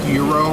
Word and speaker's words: gyro: It's pronounced gyro. The G silent.